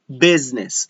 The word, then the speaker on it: business: Everybody's business. Look at the Z with the S on business. So we pronounce this with the Z because, for example, showbiz. It means show business.